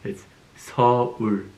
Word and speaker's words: Seoul: It's not Seoul, it's Seoul, okay? Korean lesson of the day. Seoul. Okay? Seoul. Can you see that? S sound, O, U, L sound. Seoul.